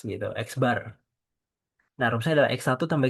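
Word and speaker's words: x̄: Ini adalah X bar. Kalau kalian lihat di sini X-nya itu ada garis di atasnya. Garis horizontal di atasnya itu adalah bar. Cara bacanya adalah bar. Berarti X bar gitu.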